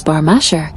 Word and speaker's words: Bagh-Misheh: Bagh-Misheh, locally pronounced as Bagh-Misheh, is a historic neighbourhood of Tabriz, situated in the northeastern part of the city.